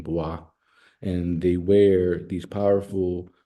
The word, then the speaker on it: Bwa: they have um the the baah people bwa and that's how you pronounce the name boah and they wear these